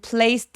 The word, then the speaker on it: placed: And placed it 할 때 and의 뒤소리는 잘 안 내고요. placed it. 자, place 얘 소리 s 소리로 끝났죠? 성대가 울리지 않으니까 얘도 마찬가지로 그래서 place라고 트리로 내 주셔야 됩니다.